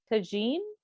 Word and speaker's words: tagine: Can I ask, where is chicken tagine? Is that how it's pronounced?